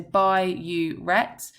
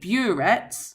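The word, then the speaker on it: biuret: So by uet because often students call it boret which is incorrect.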